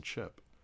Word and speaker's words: chi: HE, in other words, if you insert an H in between the C and the I, or the C and the E, it's no longer a soft C as in chip, but it's more like the K as in key. So the word CHI is key.